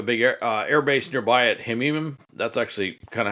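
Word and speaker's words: Hmeimim: They have a big air base nearby at Hemim. That's actually kind of how you pronounce it.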